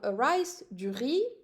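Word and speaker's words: riz: one syll or so rice I'm not pronouncing the final Z and then pom D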